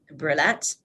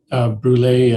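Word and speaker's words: Brulé: Omrani, Patrice Brulette, are all listed as attendees. Did I mispronounce his last name? Brule, and he attended by teleconference.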